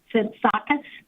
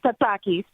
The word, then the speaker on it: Tsitsakis: Tsitsakis? That's very close. Thank you. Well, tell me how to pronounce it. It's how you pronounce it. It's Tsitsakis. Okay, accent in the wrong place.